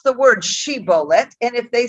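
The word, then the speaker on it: shibboleth: would say to him then say she bullet but he's if he would say see bullet not being able to pronounce it correctly thereupon they would cease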